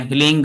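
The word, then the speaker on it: ह्रीं: ठीक है, हिलीम बोलना चाहिए, हिलिंग यानी कि हिलीम बोलना चाहिए। तो प्रोनाउंसिएशन जो होता है वो मेंटोर इसलिए सिखाता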